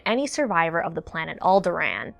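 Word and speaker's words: Alderaan: survivor of the planet alderan that's right I pronounce it like my homeboy Tarkin you want to make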